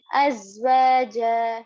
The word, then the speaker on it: azwaja: And then lastly, in the word azwaja, there is sukoon on za. So we are going to read it together with the previous word, which is hamza, as. And also make sure to pronounce the za properly.